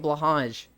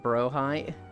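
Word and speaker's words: Blåhaj: so but we're going to keep calling it blage just to like spite air Yi just need to remember icy mainly plays pot it's pronounced like brohi the Ikea shark H there was no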